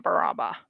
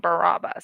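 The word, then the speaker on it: Barraba: get the one in baraba he keeps saying barabbas so i guess it's pronounced baraba so how is everyone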